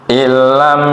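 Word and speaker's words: إن لم: Di situ tulisannya inlam tapi ada tasdid ya, jadi langsung dibacanya illam yakul lahunna walad.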